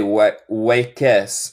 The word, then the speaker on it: wakes: No se dice wakes. Es como wakes. Es como wakes. No hay E en la pronunciación.